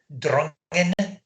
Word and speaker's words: Drongan: Now the locals would call it Drungan, the Scottish Ayrshire dialect, but they thought we were posh because we called it So Drongan.